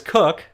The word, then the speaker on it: Koch: here with marcus cook it's marcus cook everybody mispronounces your name all the [ __